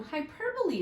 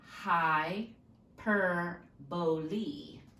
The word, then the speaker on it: hyperbole: one is personification so hyperbole is kind of a weird word to pronounce a lot of people want to say hyperbole it is not hyperbole it's a high / boley ok so say that